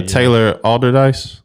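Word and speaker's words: Taylor Allderdice: Uh Taylor alderise.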